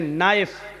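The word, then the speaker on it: knife: जैसे इंग्लिश में नाइफ किसको कहते हैं? चाकू को। नाइफ के माना चाकू, लेकिन के लिखा जाता है, बोला नहीं जाता, वो साइलेंट रहता है।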